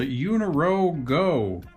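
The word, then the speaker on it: Eunorau Go: the app it's called uniro go it sounds like it rhymes but it certainly doesn't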